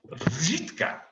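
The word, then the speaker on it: Řitka: The town I work in is a place called Žitka, which is spelt R with a háček, I-T-K-A. Žitka, right?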